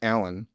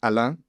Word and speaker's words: Alain: Kind of off the topic of music, but like I was born in France, hence my name Alain, which is pronounced Alan, but in France it's Alain, and so that's why I have that name.